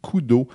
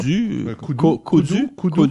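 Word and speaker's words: Kodu: s'appelle Kudu. K-O-D-U. Kudu, quelque chose comme ça. Kudu, si je le prononce en français.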